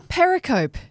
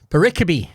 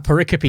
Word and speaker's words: pericope: A paricopy. Paricopy. Yeah, paric. How do you get paricopy from the way that that's spelled? There's no accent or anything.